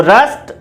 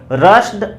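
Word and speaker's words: rushed: इसी प्रकार से देखिए रश्ड, ED है साउंड क्या है, अनवॉइस्ड है, T के अलावा है साउंड आ रही है, तो रस्ट बोलेंगे, रश्ड नहीं बोलेंगे, रस्ट, रस्ट।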